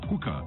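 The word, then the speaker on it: HUCA: Hookah is spelled H-U-C-A.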